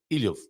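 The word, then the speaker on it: Ílhavo: Ilhov. Okay, I don't pronounce the O.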